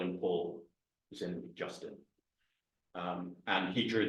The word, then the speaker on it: Paul: But I think the Justin, he would pronounce in a French style, but Paul has a French pronunciation. My French, I don't think I'd quite say it. Paul. It's more or less Paul, but because it's the French do say it in a way that makes it sound different.